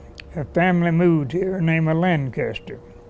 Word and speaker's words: Lancaster: I pronounced that the long way. One old lady got me with a shirt sleeve on there and said, "It's Lancaster." Well, okay. Her father happened to be from Lancaster County, Pennsylvania. I'm sorry, Lancaster County, Virginia. And she said I pronounced it too slow.